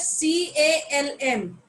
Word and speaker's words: calm: if the spelling is c a l m so c a l m is pronounced as calm and not column because